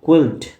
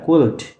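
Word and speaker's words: quilt: keywords আছে প্রথমটা হচ্ছে কুইল্ড প্রথমটা কি দেখো উচ্চারণটা ভালোভাবে খেয়াল করবা হ্যাঁ কুল্ট কিউ ইউ আই এল টি কুল্ট মানে কি কুল্ট মানে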